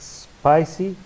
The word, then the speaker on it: spicy: syllable d we're number six spicy on the first syllable spy number seven and you